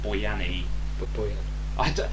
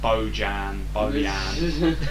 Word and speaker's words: Bojan: It's like when Stoke signs Boyani. This is the thing about his name. Like when I watch him play, the commentators have a different pronunciation for his name. It's Boyani, it's Boyan, Bojan.